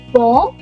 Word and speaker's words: bonsoir: Whenever the OI in French is written together, it's not OI, but the sound is wa. Repeat, wa. Wa. So that is why the sound is bonsoir. Bonsoir. Bonsoir. If I divide this word into two parts, bon means good and soir means evening. So bonsoir together means good evening. Keep this rule in mind. OI is not OI, it's WA.